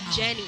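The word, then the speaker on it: Ynny: you will go to Jenny Moro actually her name is spelled y n n y right that's right but pronounce this J J that was an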